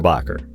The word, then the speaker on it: Bacher: is German last name we pronounce it more Bacher but I've heard Germans pronounce it it's got a lot more spin on it picture makes me